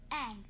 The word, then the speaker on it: Aang: Aang. That rhymes with Mang.